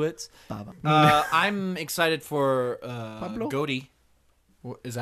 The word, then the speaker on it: Gotti: Gotti. Is that how you say it? Gotti with. It's Gotti.